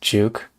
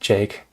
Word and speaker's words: JVKE: Rhyme says, is it pronounced Juke? You know what? I think it might be pronounced Jake. I might have pronounced it wrong. Jake, but stylized as JVKE.